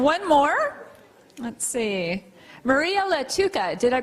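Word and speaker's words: Lattuca: Maria Latuca. Did I pronounce that correctly?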